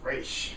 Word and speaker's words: Ra's: want to call it is pronounced race well eventually in the show in this TV show they're calling in race I'm going to show the combo Roz and rash yeah they do they